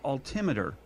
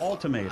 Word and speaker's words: altimeter: you're working on because it's pronounced altimer altimer not ultimator I don't think it